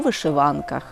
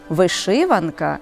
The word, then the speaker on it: вишиванка: на площі міст у вишиванках доречно нагадати що наголос у цьому іменнику можливий як на другому так і на третьому складі вишиванка і вишиванка але звернімо увагу інше